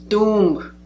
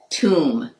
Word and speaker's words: tomb: Tomb. Tomb. Be silent.